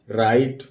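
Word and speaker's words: write: गया लाइट इसी तरह डब्लू आर आई टी ई तो डब्लू साइलेंट होता है तो आर के लिए हमने क्या किया र लिख दिया और आ की मात्रा लगा दिया और ई और टी लिख लिया क्या हो गया राइट इसी तरह ये लिखा हुआ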